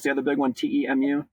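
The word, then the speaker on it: Temu: Shen and and TAMU is that how you pronounce the other big one te mu TAMU TAMU y yep so they're starting to get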